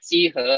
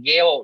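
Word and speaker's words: 幾何: Dan Chi He itu juga sebenarnya kalau dibilang waktu dialog dulu itu sebenarnya bukan dibaca Chi He, tapi dibacanya kayak Geo gitu ya.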